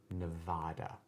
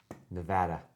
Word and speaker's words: Nevada: Angela does the cardinal sin of calling it Nevada. She does. She does. I understand. She's British. She has a certain way of pronouncing vowels. Nevada.